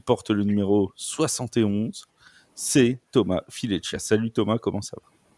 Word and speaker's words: Thomas Fileccia: Il a joué aussi pour Milan l'an dernier, il est arrivé chez Mousquetaires cette année, il porte le numéro 71, c'est Thomas Fileccia.